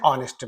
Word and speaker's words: honest: So this h is there but it is dead it is silent and we are pronouncing